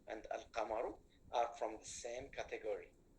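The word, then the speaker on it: القمر: Al-qamaru. Did I pronounce this lam, everybody, or not? Yes, I pronounced.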